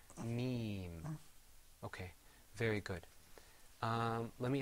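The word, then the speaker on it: ميم: Okay, because also when you pronounce the meme, you pull the corners of your mouth back. You say meme.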